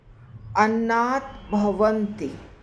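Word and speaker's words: अन्नाद्भवन्ति: वह सीख रहे उच्चारण अनाथ भवंति दो शब्द है उसका संधि है अनाथ और भवंती तो यह जब संधि होता है ना तो त है वो द बन जाता है अर्थात इस श्लोक में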